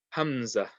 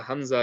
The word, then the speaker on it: Hamza: So the Hamza basically makes like the sound of like a A or an I in English. So it'll make like a sound. So the letter itself, we read it as Hamza, but the sound will